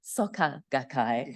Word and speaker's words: Soka Gakkai: uh this whole time it's uh soaka gak as in soccer not soccer the football match so um you're not